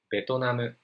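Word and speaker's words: ベトナム: hai and next word betoname is a kind of japanese english this word comes from vietnam because japanese word doesn't have r and b's pronunciation that's why we just play like like that okay so let's check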